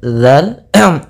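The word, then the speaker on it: ذ: Kidz pada bacaan Wu hati-hati dalam lafalkan huruf dalzal yang di mana dalal Ini pelafalannya dari ujung lidah kita menempel dengan Gigi Sari atas kita kemudian Bu ada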